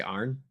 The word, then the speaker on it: iron: A lot of people who they don't say iron, they say Arn. AARN. Have Like you like we have Iron City beer out here and they call it Arn City beer.